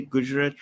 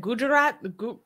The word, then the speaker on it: Gujarat: I say it, people, I think I said Gujarat. Gujarat? No, not Jew. Not Jew. It's not Jew. It's Gu.